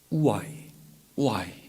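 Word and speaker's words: οὐαί: 이것에 대해서 가능성 있는 그런 학자들의 견해는 이 화라는 말의 원어가 우아이 이렇게 읽으면 그 헬라어를 읽으면 우아이 O-U-A-I 이렇게 알파벳으로 써 있는데 우아이라고 번역해요. 우아이.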